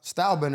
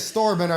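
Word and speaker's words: Stylebender: I said store bender. I said it wrong. It's style bender.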